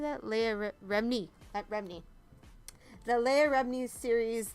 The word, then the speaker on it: Remini: Leah Remini.